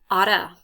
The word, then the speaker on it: ought to: to which means should people pronounce it like this Auto okay so this sounds